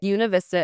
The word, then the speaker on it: Buena Vista: Univist Vista is how locals pronounce it.